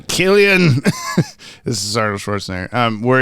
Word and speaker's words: Cillian: Where like the opening scene of is it Cillian Murphy? Is that how you say it? He's like, I'm not Irish. Cillian.